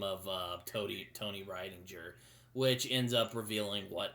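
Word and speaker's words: Rydinger: And Bob also gives him the name of Tony Ridinger, which ends up revealing how he actually knew who Tony Ryan. God damn it! I keep mispronouncing his name. Why? God, Tony Ridinger.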